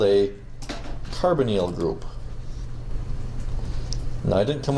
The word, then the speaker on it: carbonyl: Don't ask me why the first once sounds like this, hydroxyl group, kinda with a short sound, and this one says carbonyl, with a long E sound.